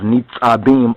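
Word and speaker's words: נצבים: within our booklet, but if you were to look at the Hebrew, it will actually be NETSABIYM, according to the Nukad, the dotting system that they have, NETSABIYM or NETSABIYM, and it's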